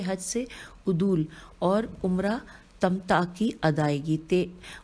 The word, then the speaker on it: تمتع: سے عدول اور عمرہ تمتع کی ادائیگی۔ عدول کی ہجے ہے عین پہ پیش ہے، عین دال واو لام، اور اس کے بعد ہے عمرہ تے میم تے عین کی ادائیگی۔ لکھا ہے